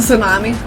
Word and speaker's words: tsunami: tsunami I'm just like it's a tsunami yep okay because it's got that stupid tea why do we have